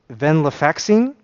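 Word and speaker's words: Venlafaxine: But eventually I got on a different anti-depressant, the um Ven Venlaxine, I believe it's pronounced, more commonly known as Eexor.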